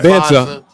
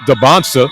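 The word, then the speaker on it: Dibantsa: I've been saying Dancer all this time and it's pronounced Debonsa.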